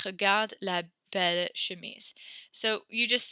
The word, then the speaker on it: bel: Belle and belle are pronounced the exact same.